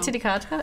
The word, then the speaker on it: Titicaca: us to Puno, which is right near Lake Titicaca. Is that the actual pronunciation? Yes. Yes. Lake Titicaca? Yeah. I did not know that. And we're all 12. Titicaca?